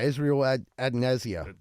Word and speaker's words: Israel Adesanya: Israel, the UFC guy, Israel Adesanya.